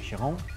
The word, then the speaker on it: Chiron: Escuchen bien que bien está mi francés, Louis Chiron.